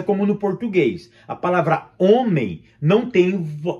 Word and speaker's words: homem: A palavra homem não tem... A gente não pronuncia o H na palavra homem. A gente pronuncia somente a vogal.